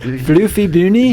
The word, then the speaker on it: Flüffy Bünny: Flüffy Bünny.